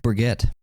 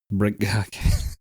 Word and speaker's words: Brigitte: Yeah, I think it's actually pronounced Brigitte. Brigitte.